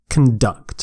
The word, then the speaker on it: conduct: so they're conducting electricity conduct and their stress is on the second syllable conduct you can say if it's a noun conduct conduct is the noun conduct is the verb conduct is to do